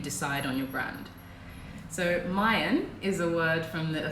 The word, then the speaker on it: Mayen: how do you decide on your brand so Mayan is a word from the thick language that's